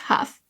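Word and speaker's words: Hough: with the Stars, Julianne, I think it's pronounced Huff, was wearing a highlighter that people just could not get enough of.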